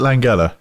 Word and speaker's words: Langella: Is it Langella or is it Langella? It's Frank Langella, like It's Bongella.